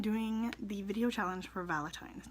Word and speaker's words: VaLITines: Anyway, so today I'm doing the video challenge for VaLITines. Now, VaLITines, not Valin. I keep sticking that N in there.